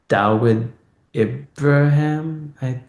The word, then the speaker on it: Dawood Ibrahim: And because in the 90s there was this big mafia dude called Dawood Ibrahim.